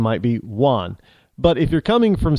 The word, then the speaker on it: Juan: So, and when you say, if you're Americanized, then your name might be Juan. But if you're coming from south of the border, it's Juan. Juan with a W, it's Juan, because a J is not W, it's Juan.